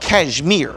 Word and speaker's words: Cashmere: Several years ago, we were going to Cashmere Baptist Church in Cashmere, West Virginia. It's spelled Cashmere, but if you say Cashmere, they'll know you're an outsider. So it's Cashmere Baptist Church.